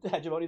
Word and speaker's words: hegemony: Have you considered Hegemony is pronounced with a hard G?